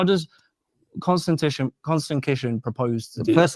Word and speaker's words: Konstantin: How does Konstantin Kisin propose to do First of all, it's Konstantin Kisin.